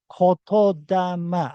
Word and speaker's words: Kotodama: This is pronounced as Kotodama. Actually, two words. This is Koto and this is Dama. So Kotodama.